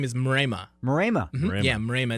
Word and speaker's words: Mrema: How do you pronounce it? So my last name is Mrema.